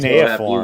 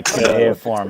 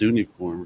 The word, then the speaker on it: cuneiform: Yeah, my cuneiform hieroglyphics. I thought it was always pronounced Suniform or something.